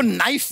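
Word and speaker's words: knife: शर्मा जी आपको नाइफ word मालूम है? नाइफ, हाँ। नाइफ। उसमें शुरुआत में जो के होता है, हाँ। वो क्या है? साइलेंट।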